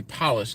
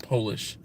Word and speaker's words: Polish: there did you know the only word in the English language to not only change the meaning but the pronunciation by simply capitalizing the first letter is Polish and polish talk about some old